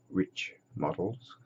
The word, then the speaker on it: Riich: this is made by I think you you pronounce it rich models I always thought rich only had one eye but uh again